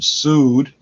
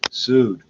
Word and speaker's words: Sood: How I go to a doctor named Sood. It's spelled differently, but it's pronounced S-U-E-D. Sood. Like lawsuit, like I got sued.